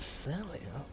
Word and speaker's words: Thalia: What rhymes with Thalia? Carry on. Well, Australia.